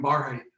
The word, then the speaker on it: Barhydt: that we have names my name is barhat my name is also stephen michael and i